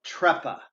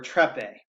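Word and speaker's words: treppe: This is a phenomenon called trepa or trepe. I've heard it pronounced both.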